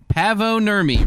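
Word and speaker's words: Paavo Nurmi: rhymes with uh Blavo Hermy. Blabo Hermy. No, it does rhyme. That's very well done. Blavo Hermy. 1931. Pavo Nurmy runs a world record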